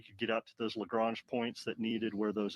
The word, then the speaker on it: Lagrange: Is it Lagrange or Lagrange? It's Because Lagrange. I think depending upon what part of America or the part of the world you're from, it could be a different pronunciation there. You know, Daryl reminds me all the time it's Lagrange, but if you're from the South, it's probably something else.